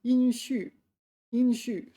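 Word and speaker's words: 殷墟: I've been pronouncing it wrong. Hey, in is first tone. All right. Inshu inshu.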